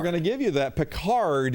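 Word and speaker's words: Picard: Peard is usually how it's said, but you put the letters in the right order.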